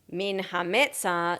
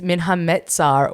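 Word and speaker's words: מן המצר: And 2, because you mispronounce the word according to her, min hametzah. She said it's min hametzach, and she's fucking wrong. she's wrong. It's min hametzar with a resh at the end.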